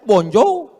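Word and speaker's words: bonjour: Emangnya bahasa Perancis mudah tulisannya bonur bacanya bonjou. Bon soir, bonsa. Jangan pelajari bahasa-bahasa orang kafir ini.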